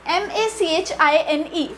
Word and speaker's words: machine: Now the next one is M-A-C-H-I-N-E, machine. Machine. So long I is the pronunciation.